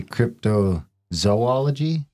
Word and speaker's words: cryptozoology: Because the way I say it like that, apparently that's wrong. We've been told that's wrong and it should be cryptozoology.